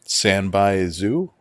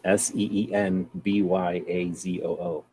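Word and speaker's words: sanbaizu: Sanbai zoo. Spell it. SANBAI space ZU. Oh, I thought it was SEENBYAZOO.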